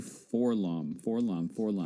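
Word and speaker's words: 4-LOM: You know what's funny is I hear everyone say Forlom, but when you read the comics, it's 4 LOM. It's 4 and it's LOM, ELOM. But that's just adding more syllables.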